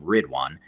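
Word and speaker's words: Ridwaan: global team that has the name rid one which is spelled r-i-d-w-a-a-n so if you just google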